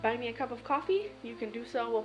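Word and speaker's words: Ko-fi: start a coffee page yes it's coffee but it's spelled k-o-f-i which i always think is kofi but apparently it's caught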